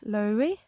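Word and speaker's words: Lowri: this is basically following I think you say her name L Lori it's l a no l w r i i' never come across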